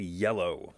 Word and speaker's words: Iello: games by the company yellow this is one of those companies that has a strange name and so sometimes people savagely mispronounce them but it should be yellow right just like the color just like they're yeah